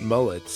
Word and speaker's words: Mullets: I guess you can pronounce it Mullets if you want.